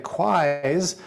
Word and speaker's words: QUIs: And the QUIs rhymes with why, which is good because that's sort of what it's all about.